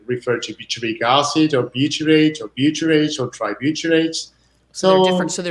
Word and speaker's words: butyrate: industry, we realized there was a compound called butyrate that did marvelous things for Can you pronounce that again?